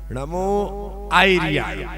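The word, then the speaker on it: णमो आयरियाणं: नमो आयरियाणम, नमो आयरियाणम, नमो आयरियाणम। ई भी बड़ा नहीं होगा, छोटा ही, नमो आयरियाणम।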